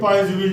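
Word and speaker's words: Poiseuille: है पॉइजविल, ठीक, मगर ये चूंकि फ्रेंच नेम है, ये फ्रेंच नेम है, ये यहाँ वो लोग बोलते हैं तो एल को साइलेंट कर देते हैं, पॉइजवी पॉइजवी पॉइजवी पॉइजवी, इस तरह से बोलते हैं, है ना, पॉइजवी, ठीक है।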